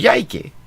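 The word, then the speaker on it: Coyhaique: coyake in Patagonia in there's one in Chile spelled c o y h a i q u e and uh the other one which I only just noticed on the map right now uh is spelled k o y second word a i k e but they're both called yiki interesting ing.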